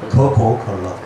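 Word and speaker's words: 可口可乐: 가구가락.이 이 우리가 볼 때 가구가락이 뭐냐 하지만 중국은 발음이 코코 컬러입니다. 코코 컬러.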